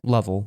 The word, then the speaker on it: Lovell: And am I saying that right? Lovell or Lovell or? Yeah, Lovell.